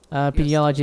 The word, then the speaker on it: Pediology: Pediology is how it will be pronounced.